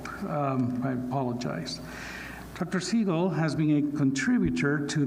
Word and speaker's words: Siegel: to baldomero and to everyone who pronounces my name correctly I'm not Steven Seagal and so let's make sure we correct that error um my thanks for